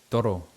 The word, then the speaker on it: toro: So you have to really and if you are saying R's, you have to make sure they are strong. Toro, like a bull.